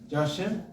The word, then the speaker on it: Joachim: Joachim. St. Joachim and Ann Church. Joachim and Ann. It's the proper pronunciation.